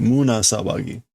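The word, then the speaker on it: 胸騒ぎ: It's always Muna. I do that every time. Muna Sawagi.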